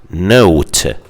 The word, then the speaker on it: nought: They say 0, just like Americans, and they also call it Nought, or in the British pronunciation they say no.